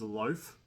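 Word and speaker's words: Loafe: Loaf. Um kind of an unfortunate name, Mrs. It's L O A F E. The silent E kills her, but you know, she was out there.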